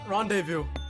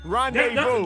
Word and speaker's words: rendezvous: It's a lot of silent words in rendezvous, because I would never spell it like that.